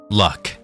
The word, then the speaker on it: Lugh: If that name doesn't ring any bells for you, keep in mind that Lugh is sometimes pronounced luck, as in luck of the Irish.